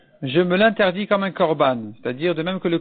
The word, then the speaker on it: korban: moi interdit comme un korban, il a mal dit le mot korban, il a mal prononcé, il a dit konam.